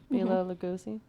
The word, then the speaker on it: Bela Lugosi: Bela Lugosi?